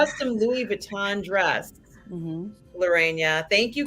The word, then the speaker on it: Vuitton: We know it's Vuitton, but we like to be funny and say it like that.